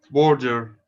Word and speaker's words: border: It is not Border. O. It's like or.